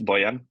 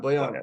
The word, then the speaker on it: Bojan: Can I say Bojan? Bojan? Is that how I pronounce Oh, it? it is close enough. It's Boyan. Bojan. Boyan. That's right.